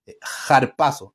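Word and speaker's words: ἁρπάζω: le llaman los estudiosos harpazo que es como una J como una J harpazo se escribe con Alfa con a pero se pronuncia por por ese espíritu que trae jpaso espíritu simplemente es como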